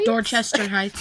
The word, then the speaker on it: Dorchester Heights: Yeah, Dorchester Heights.